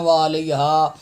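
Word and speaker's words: وعليها: یہاں پہ لوگ تلفظ غلط پڑھتے ہیں. وعلیہا نہ عین کا پتہ ہوتا ہے نہ ہا کا پتہ ہوتا ہے، خالی الف کی آواز آ رہی ہوتی ہے. مہربانی کر کے یہ تلفظ بھی ٹھیک کریں.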